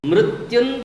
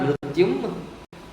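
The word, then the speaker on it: मृत्युं: Mrityun tirtva. It is not mrityum, because what is the next word, next letter?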